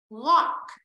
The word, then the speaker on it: walk: Walk. Chữ A đi với chữ L đọc là âm O.